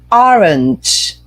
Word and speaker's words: orange: Number 5, look at here, the pronunciation, orange. Look, it's not O, é A. E olha aqui que esse é um A, não é? Mas olha aqui, tem som de I, tá? E o finalzinho é orange, orange.